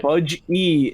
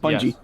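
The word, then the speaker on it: BudgeE: And Budge E is the correct pronunciation, not Bungie.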